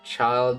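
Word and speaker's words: Childe: I thought you meant like one of the twins and feminina, but you actually meant child with an E. Like Tortag. Marvelous. Thank you all. Yeah, child is is spelled C H I L D E.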